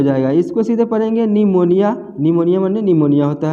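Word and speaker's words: pneumonia: यहाँ भी देखिए एन से पहले पी है तो पी को नहीं पढ़ना है, पी साइलेंट हो जाएगा, इसको सीधे पढ़ेंगे निमोनिया, निमोनिया माने निमोनिया होता है।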